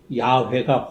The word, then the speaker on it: 야훼: 그러나 나중에 최근에 또 학자들은 여호와보다는 야훼가 훨씬 더 본래 발음에 가깝다고 해서 요새는 야훼라는 말을 많이 씁니다.